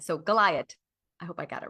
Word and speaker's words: Gliot: She told me to pronounce it like Goliath, but without the th sound at the end. So, Goliath.